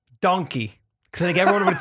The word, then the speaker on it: Donkeh: It's not donkey. It's not donkey. Like, it's D-O-N-K-E-H. Donkeh. Oh, K-E-H, yeah. Yeah. Or you like, and people be like, you mean donkey? No. You're saying it wrong.